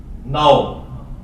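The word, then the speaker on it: know: कई अल्फाज साइलेंट है के एन ओ डब्लू नाओ इसमें के साइलेंट होता है अब रूल के तत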